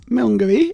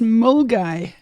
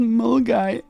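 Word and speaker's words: Milngavie: Okay, it's not Milngavy. It's pronounced Mulgai. No. Mulgai. That's ridiculous. Mulgai. Milngavy is pronounced Mulgai.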